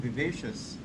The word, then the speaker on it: vivacious: You're very lively and vivacious.